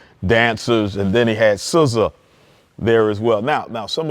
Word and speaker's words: SZA: that I know who SZA is, and I'm not saying SZA's SCISSORS. I think that's how you spell it. SZA's like the scissors you cut.